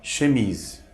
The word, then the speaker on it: chemises: final quase nunca se pronuncia no final das palavras por exemplo a palavra chemises que significa camisas Observe que esse esse final